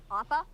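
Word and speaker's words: Appa: are you I'm a they said it right opa opa oh yeah where's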